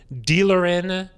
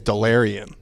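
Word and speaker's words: Delarrin: in the 5th round, Dealerin Turner Yell. Yeah. Turner. I think it's Delarian. Despite the lack, we need to find out. I think based on the pronunciation guides, Delarian Turner Yell. Not Dealerin.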